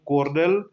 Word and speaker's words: colonel: यहाँ पर है सबसे पहले है LIAUTENET यानी कि लेफ्टिनेंट, CORLON कॉर्नल, कमांडर, और इसके बाद यहाँ पर है सोल्जर्स।